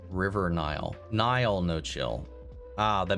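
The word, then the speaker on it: Niall: Your pronunciation of Nile may cost you your Irish ancestry card. Um it's Nile or Nile, not Neolan from One Direction.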